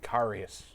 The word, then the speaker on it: Karius: Karius.